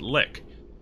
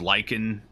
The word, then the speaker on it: Lich: the end of it - it's not just lick its lick there's a little each sound at